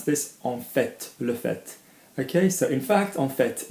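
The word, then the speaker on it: en fait: for a fact and a lot of accents pronounce this okay so in fact on vet not on FEI okay I have a piece of sticking up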